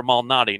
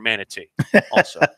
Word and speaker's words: Malnati: first time and and it is also Peter Malnati not Peter manatee I'm not good at